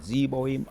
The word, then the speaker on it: Zeboim: Let's go in and I remember the pronunciations of the Zebo, Admar, and Zo Zohoim. Zeboim, Admma, and Zohar.